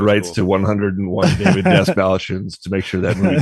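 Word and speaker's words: Dastmalchian: to 101 David Desmalchins to make sure that movie never got made. Desmalchin. Desmalchin is how you say it.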